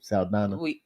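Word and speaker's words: Saldaña: Saldana.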